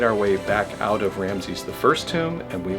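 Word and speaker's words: Ramesses: for the tomb of ramsy's I 5th and 6th yeah I think we said it wrong earlier but it Ramsay's the fifth and the sixth here this is a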